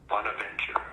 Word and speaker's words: Bonaventure: And how do you pronounce this name? Bonaventure.